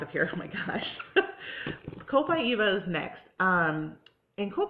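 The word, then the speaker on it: Copaiba: get these out of here so my gosh co-pi eva is next um and cool by eva is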